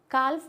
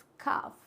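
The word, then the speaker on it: calf: Silent letters होते हैं तो एल is silent after the wall, L silent होगा। अगर वॉल क्या आता है इसके बाद में, ए, ओ या फिर यू, तीन वॉयल्स आएंगे तो एल क्या हो जाएगा, साइलेंट हो जाएगा। जैसे कि काल्फ होता है, नहीं, इट्स काफ।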